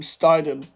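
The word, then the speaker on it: Steidten: huge work by new director Tim steedon Tim steiden I know how to pronounce his name now Tim steiden working side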